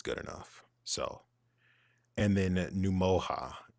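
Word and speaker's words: Ngumoha: enough so and then num MOA is is how you pronounce it Nick what Nick what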